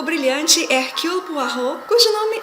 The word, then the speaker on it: Hercule Poirot: E quando o brilhante Hercule Poirot, cujo nome é pronunciado mais ou menos assim, finalmente elucida o